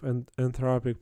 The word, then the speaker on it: Anthropic: or cloud which yeah I don't know and anopic IC anthropic. Anthropic. Yeah. Need to pronounce it correctly.